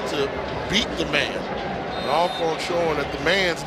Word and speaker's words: Alcorn: You know, folks at Alcorn like to say, for those who don't know how to pronounce the name, always Alcorn.